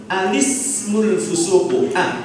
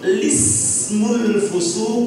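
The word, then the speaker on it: ٱلِٱسْمُ ٱلْفُسُوقُ: Tapi kalau memulai bacaan dari al-ismu, itu ada dua wajah. Yang pertama, alismul fusuq, hanya dibaca alismul fusuq. Yang kedua, wajah yang kedua bacanya langsung lismul fusuq ba'da iman.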